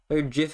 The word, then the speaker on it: GIF: am saying it right I just say GIF because otherwise it sounds like gift same reason I say